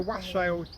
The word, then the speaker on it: wassail: Wassail would be brilliant to cover it all on its own. Yeah, that's right. Incredibly good fun. And if the weather's good enough, they take the wassails to the Procession through, orchard.